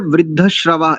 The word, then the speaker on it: वृद्धश्रवाः: बढ़िया, अच्छा उच्चारण है। एक बार वृद्धश्रवा इस शब्द को पुनः उच्चारित कीजिए।